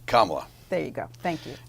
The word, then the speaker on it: Kamala: Kamala. Kamala. It's pronounced like 18 different ways.